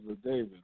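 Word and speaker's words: La David: I want to say the brother name is LaDavid, right? Make sure I say his name correctly. The brother. You talking about he got David killed in the war. Yeah, LaDavid. Yeah.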